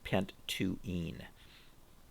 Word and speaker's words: pent-2-ene: So this would be pronounced pent-2-ene, but we'll be using this.